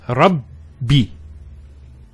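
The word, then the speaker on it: ربي: The first Ba takes a Sukoon. And the second takes a Kasra. So it's Rabbi.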